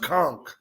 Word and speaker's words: conch: Is it conch or is it conch? I like rock and roll hoochie coo. It's spelled that way, but it's pronounced conch.